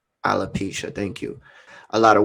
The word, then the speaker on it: alopecia: faces this i just don't know how to pronounce it correctly alopecia alopecia thank you a lot of women said it's